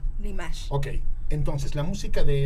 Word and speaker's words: Dimash: A ver, ¿es Dimash o Dimash? Dimash. No. Dimash Divergien. El acento en la E, digo en la A. Dimash.